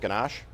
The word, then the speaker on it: ganache: Also, to celebrate Easter, Baskin-Robbins is offering a new, how do you say that, ganache?